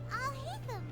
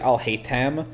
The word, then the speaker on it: Alhaitham: When I saw his name, I thought it was like Alhaitham. Like I didn't see I didn't assume there was going to be the th noise.